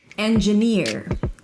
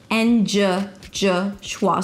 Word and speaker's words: engineer: Engineer. Here the primary stress is on the last syllable. Engineer. It is not engineer. En-djuh-nir. So there is no e. It's not en-djuh. En-djuh-nir, as in here.